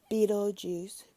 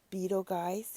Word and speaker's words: Betelgeuse: which is aligned with Betelgeuse, Betelgeuse, if you want to call it, is either pronunciation is correct, which is a revered star of Orion.